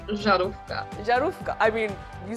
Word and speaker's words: Żarówka: I believe the Polish word is Zarauka? Żarówka? I was so close. Okay, say it one more time. Żarówka.